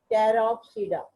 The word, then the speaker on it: Pteropsida: In all cases, you can observe, you can see that the P is silent. Pteridophyte, Psilopsida, Lycopsida, Spinopsida, Pteropsida.